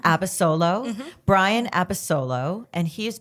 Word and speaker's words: Abasolo: Oh, I'm going to mispronounce his last name. Abasolo. Abasolo.